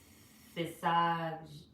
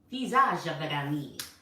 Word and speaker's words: Physiognomy: Every man has an innate talent for making a man of his physiognomy, physiognomy, physiognomy. It's Physiognomy.